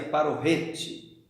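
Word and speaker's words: פרוכת: A nossa lição nos traz até uma informação que a palavra véu, ela vem da língua ou do vocábulo hebraico paroquete, ou segundo alguns se pronuncia parorrete, que significa justamente isso, separar.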